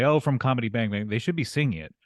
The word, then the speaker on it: Comedy Bang! Bang!: Comedy Bang Bang. Yes, you're saying it correctly. Thank you so much for stressing the bangs. Most people just say comedy bang bang and then they mumble the bang bang.